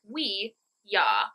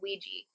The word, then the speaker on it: Ouija: Okay, so French is oui, German is ja. Oui. Ouija board. Ouija, although we pronounce it Ouija.